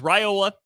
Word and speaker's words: Raiola: Rola Rola it is Rola officially that is how it's being pronounced we'll get into the